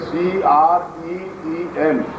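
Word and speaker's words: क्रीं: Cream का मतलब है CREEM, ये क्रीम शब्द है जिसे आप सही उच्चारण कर सकते हैं।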